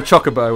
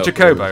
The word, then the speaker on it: Chocobo: A chobo or a chocobo or have you it's a chobo as far as I'm concerned but apparently some people pronounce them Chocobo so you know obviously wrong well it is obviously wrong um so obviously if